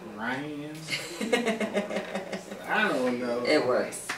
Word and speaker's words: Rhein: right back but i call her but it's ryan i don't know it